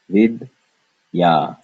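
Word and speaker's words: विद्या: Well, if we break up the and ya, we get one syllable being vid, second syllable being ya, vid, ya.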